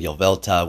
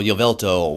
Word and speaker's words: Yveltal: your veltol i know i was saying yo velta without the l somebody said something so i'll take that constructive criticism and let's say it like that all right so jovelto 100 iv is going